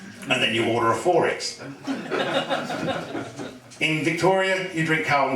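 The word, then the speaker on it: XXXX: those who don't know it's not Forex for censorship reasons it's because that's how it's pronounced Forex and the way to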